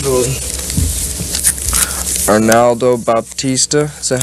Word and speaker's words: Arnaldo Baptista: Arnaldo Baptista. Is that how you pronounce his name?